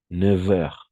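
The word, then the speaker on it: neuf heures: Y aquí va a pasar algo extraño, pero esta F se va a pronunciar como una V. 9 heures.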